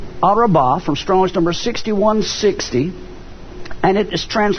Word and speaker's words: Arabah: very important the word for plains here is pronounced arabah from strange number 6160 and it is translated